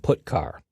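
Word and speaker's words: putchar: are git car and put car that's how i pronounce them git car fetches a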